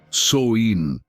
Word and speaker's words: Samhain: Samhain, pronounced Soin, marked the end of one cycle of life and the beginning of another.